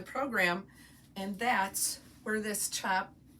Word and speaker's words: tjap: There's usually six chops in a collection and when you're seeing that word that spelled TJAP, that's how you pronounce it chop.